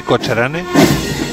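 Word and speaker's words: Cochrane: Ah, Cocharane, se pronuncia bien así, Cocharane.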